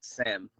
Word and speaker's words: ISAM: I got ISAM, well, it's called SAM, but it's spelled ISAM, short for I am.